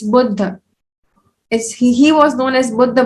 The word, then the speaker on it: Buddha: It's not Buddha, it's Buddha.